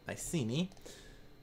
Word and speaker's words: Iceni: I don't know who Iceni was training, or Iceni or whoever they were. Iceni, I believe it's actually pronounced as people on the stream that I'm doing right now have been correcting me.